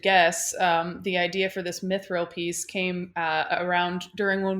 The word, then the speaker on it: mithril: Yeah, Mithril.